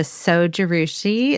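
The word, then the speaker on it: Zojirushi: The Sojarushi.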